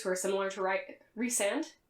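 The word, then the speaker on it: Rhysand: are similar to write resand i always want to say rice and i know that's not how it's pronounced but it's how it's pronounced in my heart um but i'm trash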